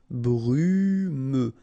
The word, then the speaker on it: brumeux: Okay, final X not pronounced, so you get this E and then U. Brumeux.